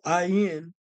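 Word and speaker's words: עין: Okay, so now the ayin in Hebrew, the Hebrew noun ayin, pronounced ayin, is the biblical Hebrew word for both eye and spring.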